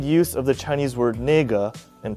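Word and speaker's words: 那个: The word is most commonly used with a pause between both syllables." Really? Ne, pause, ge.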